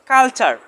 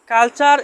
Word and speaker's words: culture: আমরা এই ক্লাসে জানবো টি এর পরে যদি ইউ আর ই থাকে তাহলে টি লেটারটি উচ্চারণ চার হবে।